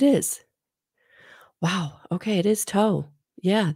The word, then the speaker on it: Thoth: wow okay it is toe yeah the H is silent so maybe um let's see pronounced with a silent h so it would be taught also known as tahudi